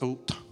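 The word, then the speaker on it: אות: Hebrew is pronounced ot.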